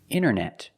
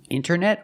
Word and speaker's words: internet: Wanted or wanted. It's more common to hear Americans say wanted. You have NT in the middle, the T is silent. Other examples, internet. Internet or internet. International.